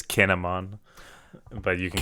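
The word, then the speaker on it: Kin'emon: So Kainmon has like a puritanical... It's Kinemon.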